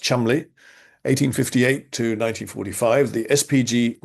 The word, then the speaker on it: Cholmondeley: Lionel Cholmondeley, spelt Cholmondeley, but pronounced Cholmondeley, 1858 to 1945, the SPG missionary and honorary